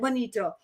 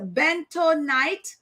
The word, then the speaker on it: bentonite: bunny um bento knight i'm always pronouncing this word wrong because i don't spend the time to pronounce this word i'm always saying like bonito but is a bento night and french green clay